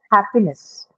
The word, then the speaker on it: happiness: on the I'm on the first first syllable. syllable. First syllable. Correct. Absolutely correct. So, in the first syllable, right? So, happy is the word, the basic, the root word, which is an adjective, which then definitely is marked on the first syllable. And next is a suffix, which is a neutral suffix. So, no change in the stress pattern.